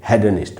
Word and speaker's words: hedonist: ऐसे किसी भी इंसान को हम कहेंगे हेडनिस्ट ब्रिटिश इंग्लिश में, अमेरिकन इंग्लिश में कहेंगे हीडनिस्ट।